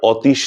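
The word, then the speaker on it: অতীশ: যেমন ধরুন অতুল অতিন অনিল অতিশ আমরা অতিশ দীপঙ্কর বলি না। আমরা বলে থাকি অতিশ দীপঙ্কর।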